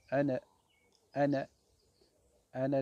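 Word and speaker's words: أنا: jamais dans le coran procès jamais on le prononce anna anna anna demi-mille l amour minutes un amour minutes ça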